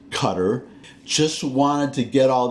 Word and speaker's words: Qatar: Kabul I do say Kabul I don't say Qatar for that country in the Middle East I say Qatar just wanted to get all that pronunciation stuff